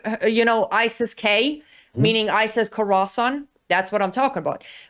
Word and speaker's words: Khorasan: Now could I think part of Horas- Horasan would be part of it? Yes, and that is by the way pronunciation. Have you you know ISIS-K? Meaning ISIS Khorasan.